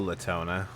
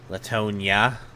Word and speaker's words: Latonia: Latona, what do we do? Or is it Latonia? Latonia. Been saying your name wrong the whole time. And you you're Latonia, not Latona.